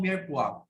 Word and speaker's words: mirepoix: Okay, pa-pronounce nga po mirepoix.